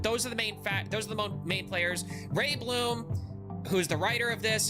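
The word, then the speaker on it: Reiblom: Um we've got Ray Bloom, which I believe is how you spell it. It's or how you say it. It's R E I B L O M.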